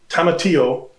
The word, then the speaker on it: tomatillo: i can't taste the the roasted tomatillo i think that's how you pronounce it two l's and the garlic pronounce